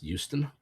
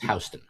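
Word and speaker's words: Houston Street: and from the area around Hston Street, which fun fact looks like it should be pronounced Houston is pronounced Hston.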